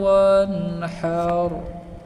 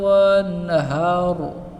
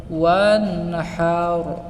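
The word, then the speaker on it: وَانْحَرْ: আমরা পড়ি ফাসাল্লি লিরাব্বিকা ওয়ানহার, অর্থাৎ এই হায়ে হুতিকে আমরা হায়ে হাওয়াজে রূপান্তরিত করি। এখানে আমরা হাকে বড় হা, অর্থাৎ হায়ে হুতি হায়ে হাওয়াজ উচ্চারণ করি, কিন্তু এখানে হবে ওয়ানহার ওয়ানহার।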